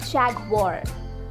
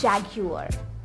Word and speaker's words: Jaguar: While it might be tempting to say Jaguar, Jaguar, but it's Jaguar, Jaguar.